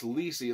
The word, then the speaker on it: Lisey: uh i mean it's lisi it's it's pronounced like a ribbon rhymes with cece lisey lisi's story starts